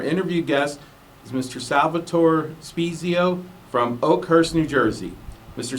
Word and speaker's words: Spiezio: Spiezio. Thank you. Am I pronouncing that correctly?